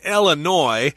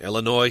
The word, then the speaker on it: Illinois: So that's the state where it is, Illinois. The S is not pronounced there because it's a French word.